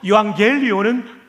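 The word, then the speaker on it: εὐαγγέλιον: 발음이 아주 좋습니다. 유라는 말은 좋다, 복되다라는 뜻이죠. 앙겔리온은 소식이라는 뜻입니다. 따라서 유앙겔리온은 복된 소식입니다.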